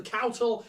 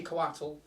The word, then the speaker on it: Couatl: we're doing the coatt the Cowal however you want to say that I say kattle um I say kattle I've heard it's pronounced I heard people say Co and all sorts yeah I think um